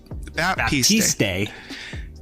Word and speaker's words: Baptiste: Baptiste.